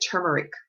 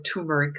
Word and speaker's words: turmeric: Herbs like turmeric or turmeric, depending on how you pronounce it.